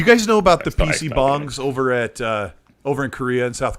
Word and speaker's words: PC bang: So PC bong is it's spelled for us over in the UK or America as PC bang, but they're these internet